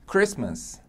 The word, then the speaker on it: Christmas: Christmas Christmas aí ó percebe que ele tem não foi pronunciado Christmas Merry Christmas Market também não foi pronunciado ou é sol pulou né do s para o joelho no final que a Sol que essa eu também não se escuta a letra T Então essas palavras aí